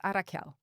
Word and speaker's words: Arakyál: a very high level a little bit about Arachiel. So, first of all, have I pronounced the word right? Very close. It's Arael.